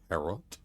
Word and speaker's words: tarot: It's pronounced tarot.